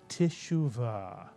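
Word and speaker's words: תשובה: Put the word together, tishuva, tishuva.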